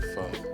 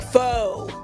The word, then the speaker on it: pho: I want some pho. I'm a dainty. Yes. I want some. You said it right. I'm so happy. People are always like, faux. And I'm like, nope.